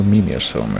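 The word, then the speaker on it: Mimeosome: Blades will also have been taken to the Mimosome maintenance center. Or Mimiosome is how it actually pronounced it in the game, so I guess I'll do that as well.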